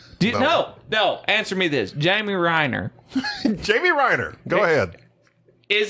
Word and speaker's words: Renner: How do you say his name? Reiner or Renner. Renner.